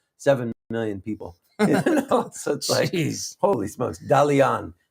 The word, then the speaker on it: Dalian: town in China seven million people holy smokes Dalian Dalian that's how you pronounce it but he is a uh he's